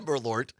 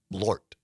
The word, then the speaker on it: Malort: But Carol says it's one syllable. Malort.